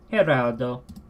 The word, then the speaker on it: Gerardo: for a second here haroldo here outdoor so it's actually an H sound not a G sound I have forgotten about